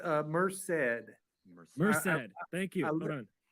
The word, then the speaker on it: Merced: It's Merced.